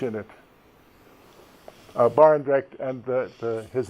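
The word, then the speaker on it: Barendregt: I was wondering if you could tell me how to pronounce the word Barengret? Oh, okay. Yes. Hank Barendrecht.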